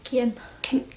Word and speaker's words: Kian: Kian. I'm saying Kieran, but it's not, it's shorter.